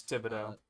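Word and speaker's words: Thibodeaux: My guess is what's gonna happen is they're gonna take Thibodeau, if that's how you say it, It's Thibodeau.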